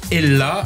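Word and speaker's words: Ehla: Chanteuse, elle aussi, Ella. Alors, ça s'écrit E-H-L-A.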